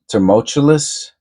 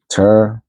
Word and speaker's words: tumultuous: Term, tumultuous. Tumultuous. All right. Yeah, I guess so. How's this? Hey. Tumultuous. Another good word. Tumultuous. Tumultuous. Okay, so there's no R.